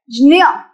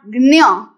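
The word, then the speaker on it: ज्ञ: And now if I combine little pronunciation of J and little pronunciation of I, I will get Jnya, not Gnya.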